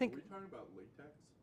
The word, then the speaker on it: LaTeX: VM and shoved it in a uh Latte is a a whole platform of its own.